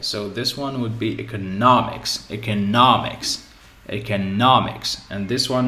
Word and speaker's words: economics: So I divide into syllables. Eco, no, mix. So mix is the end. Okay, so what do I take? I take what's before it. I take the stress in here.